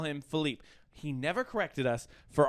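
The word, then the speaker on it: Filippe: felipe i call him felipe i've been calling philippe my whole life he was my college roommate for years i know this guy i've known him since i was a tiny fourth grade child his name is felipe turns out it's not uh we're at his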